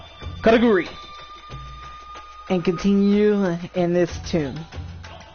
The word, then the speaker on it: Karakuri: All one could want to know of the Karuki. Oh my god, that's just so bad for me to pronounce it. Karakuri, and continue in this tune.